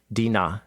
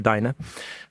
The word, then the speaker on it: Dinah: daughter born to him, Dinah, is how you say her name in Hebrew, or Dinah.